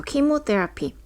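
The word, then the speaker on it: chemotherapy: 켜지는데 여기서 4번에서 는요 우리 흔히 알고 있는 k 라는 발음 처럼 발음이 돼요 그래서 킴 웃대 lp 요렇게 반으로 나눌 수가 있어요 키모 테라피 때 앞이라고 하는 것은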